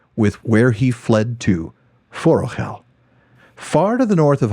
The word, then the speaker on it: Forochel: it called forel or forell but of course the last syllable with the CH follows the pronunciation rules in appendix e there tolken explains that